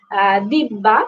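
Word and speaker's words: দিব্যা: হ্যা তো আমার নামের উচ্চারণ হচ্ছে অনেক সময় কনফিউজ হয়ে যায় সবাই। এজন্য আমি উল্লেখ করে দিলাম দিববা কিংবা ইংলিশে দিবিয়া বলা যেতে পারে।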